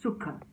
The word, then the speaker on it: Sukha: This sensation of being, feeling good is all what we call Sukha, okay? And the pronunciation is Sukha because it is S-U-K-H-A, okay? It's not Sukha. Sukha would be S-U-K-A. Here is Sukha.